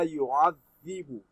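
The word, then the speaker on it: يُعَذِّبُ: La yu'adhibu. This dhalun. You read your dhalun by placing the tip of the tongue under the edge of your front teeth. Then dhalun is pronounced correctly. La yu'adhibu.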